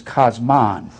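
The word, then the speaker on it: κόσμον: you go into the Interlinear Bible it says cosmon I'm going to spell it like it is in the greatek k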